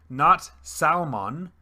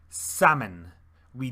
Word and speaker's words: salmon: salmon for fish and seafood salmon not salmon salmon we do not pronounce the l for dairy we have